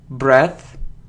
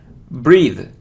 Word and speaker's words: breathe: Okay, you see that we pronounce it as breath. So if we have E in the end, so it's breathe. If it's without E, so it's breath. So let's look at the next word.